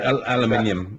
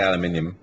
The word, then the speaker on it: aluminium: It's like aluminium. We say aluminium.